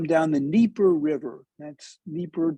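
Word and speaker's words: Dnieper: the neeper river that's Nipper they don't pronounce the d it's d-n-i-e-p-e-r so they're coming down the Naper River in the 8th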